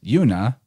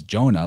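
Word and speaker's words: יונה: The word dove in Hebrew is Yuna, known in modern pronunciation as Jonah, like Jonah in the whale.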